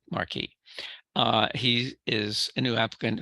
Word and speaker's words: Marquis: He says he does pronounce it a la the French way, Marquis.